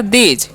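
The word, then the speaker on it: those: ज, तो हो गया दीज। अब TH है तो उसका उच्चारण द करते हैं, ओ का उच्चारण ओ की मात्रा, और SE का ज, तो हो गया दोज।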